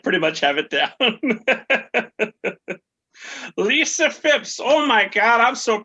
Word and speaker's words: Lisa Fipps: It's Louisa Phipps. Is that correct? Yes, it's exactly how you say my name. Exactly. Well, I figure after a decade of friendship, I'd pretty much have it down. Lisa Fipps, oh my God, I'm so proud of you.